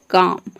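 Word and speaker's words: calm: तो इन सभी वर्ड में एल के बाद के आ रहा है तो यहाँ पे एल साइलेंट है। नेक्स्ट है, अब एम का एग्जांपल देखते हैं, जैसे कि है काम।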